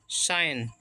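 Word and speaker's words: sign: एस आई साई और देखिए इसमें जी साइलेंट होता है य केवल एन बोलेंगे साइन साइन मींस होता है हस्ताक्षर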